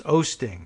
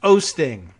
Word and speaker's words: Oosting: It is Osting. It's spelled Oosting, like O-O, and I figured that's probably not the right pronunciation.